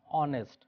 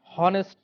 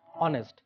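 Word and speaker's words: honest: এখানে খেয়াল করে দেখো, অনেস্ট এইস যদিও এখানে কনসোন্যান্ট, এখানে এইস সাইলেন্ট অ্যাকসেন্ট, অর্থাৎ আমরা যখন বলছি এটা উচ্চারণ হচ্ছে অনেস্ট, হনেস্ট কিন্তু নয়, অনেস্ট।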